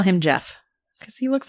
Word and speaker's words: Gef: Do you Jeff.